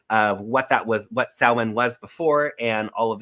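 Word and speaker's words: Samhain: go on YouTube look at what saan it's spelled s m Ha i n look at the history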